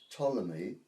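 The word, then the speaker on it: Ptolemy: Greek living in Egypt called Tommy spelled with a p p t o l o m y it was a party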